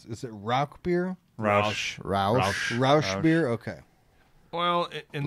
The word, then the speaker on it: Rauch: No, this is our I don't even know the pronunciation. Is it Rauch beer? Roush.